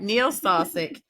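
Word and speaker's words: Neil Salsich: Dolly Parton um versus Neil salsik who I've been saying your name wrong this whole time so I wrote it phonetically when Carson said it that's right Neil salsik and he's saying taking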